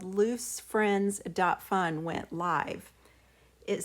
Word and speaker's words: Luce: has called this character loose the Wikipedia page indicates it might be closer to luche as a pronunciation it says she represents